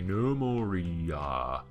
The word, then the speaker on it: Gnomoria: been carport d quickly normal Rhea that's with a G like Nutella or knife if knife was spelled